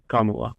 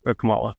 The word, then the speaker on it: Kamala: yeah thanks for that because of Marvel's um Kamala con M Marvel they spelled the same way pronounce different I'm G to screw